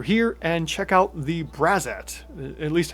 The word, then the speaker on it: Braxat: and check out the braat at least how that's how I'm pronouncing it cuz X's are usually pronounced like Z's when uh they're not